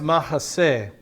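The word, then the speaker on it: mahseh: the refuge itself it's mahase m-a-h-s-e-h and it's pronounced mahasay and we're gonna run into this word in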